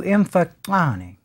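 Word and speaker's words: Mfecane: scholars as the so-called imfokane. Actually, if I were to pronounce that correctly, it would be something close. I'm only going to try this once. To imfokane. There would be a clicking sound there, and again, as is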